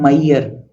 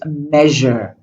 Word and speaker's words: measure: A lot of students are saying mayer. Mayer. It's not mayer. It's measure. It's like a vacuum cleaner sound.